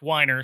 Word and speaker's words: Weiner: In the TV special, he's Murray Weiner, spelled like Wiener, but it's pronounced Weiner, so it can rhyme with diner, which he owns.